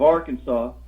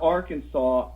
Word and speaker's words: Arkansas: right well you have you have the word Arkansas and saw is s.a.w and it's SAS but if you take the AR out of Arkansas that's Kansas and they spell it Kansas yeah now are working